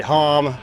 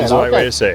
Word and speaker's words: HAMM: Mostly guys say hom, some guys say ham. Yeah. Yeah. H's the right way to say ham.